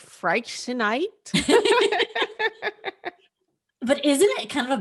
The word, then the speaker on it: Freixenet: It's spelled Freixenet, and the X makes you kind of confused, and it's actually just Friexenet or Friexenet.